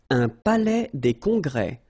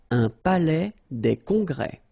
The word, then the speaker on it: palais des congrès: Un palais des congrès. Final S here and here are not pronounced. Un palais des congrès.